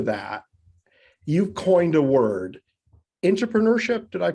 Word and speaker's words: intrapreneurship: Before we get into that, you've coined a word, intrapreneurship. Did I pronounce that correctly?